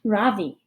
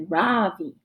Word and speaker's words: Ravi: first name is ravi it's pronounced ravi with a soft rock and a strong v in sanskrit it means the sun in america people call me ravi with the stress on the first syllable that doesn't mean anything